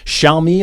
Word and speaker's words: Xiaomi: And speaking of performance, Xiaomi, I believe, is the correct pronunciation.